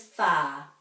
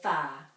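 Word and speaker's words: whā: with the macron so the number for four is far and there's a macron so we just don't say we say far because it's a bit longer for five it's short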